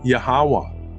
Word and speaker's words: Yahweh: The creator of this world is the author of the Bible, YHWH, pronounced Yahweh, and he is manifest in this world as our Savior with the name Yahawashi.